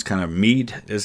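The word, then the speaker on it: Meath: t but they told me it's kind of me is how it's pronounced um I'm still working on my Irish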